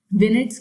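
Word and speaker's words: vignette: अब वो क्यों यूनिक है, बिकॉज ये जो बुक है वो एक 44 विनेट्स की सीरीज में लिखा गया है। Right pronunciation is विनेट।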